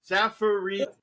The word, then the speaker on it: Zafirides: Zafirides. Zafirides. Oh, I got it. I got it right. So close in the pre-show. Zafirides.